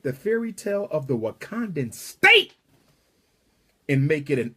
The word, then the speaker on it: Wakanda: It's time for a real Wakanda. And if you're wondering why Wakanda rhymes with Uganda, if you're wondering why Wakanda rhymes with Uganda, it's because the original